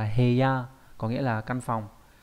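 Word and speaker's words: 部屋: Và đặc biệt trong chữ bộ và chữ ốc nó đọc là heya, có nghĩa là căn phòng.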